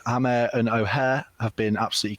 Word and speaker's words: Hamer: I'm moving more towards Amer now. Yeah, I saw a video of him pronouncing his own name. Oh, you did? And he says Hamer. He says Hamer, right? Yeah, there's a H in there.